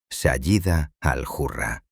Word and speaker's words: Sayyida al-Hurra: Comenzaron a referirse a ella de manera exclusiva como Sayyida al-Hurra, pronunciado Sayyida al-Hurra, un honroso título que significa literalmente la dama noble, libre e independiente.